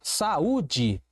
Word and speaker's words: saúde: Palavra saúde. Saúde. Percebi, professor, que eu tenho sim a separação, eu tenho um hiato, eu tenho aqui um u tônico e ele está sozinho na sílaba.